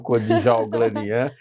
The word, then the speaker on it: Kodjalglanian: Muito obrigado pelo convite, Patrícia, e parabéns pela pronúncia, pronunciou certinho, Kodjalglanian.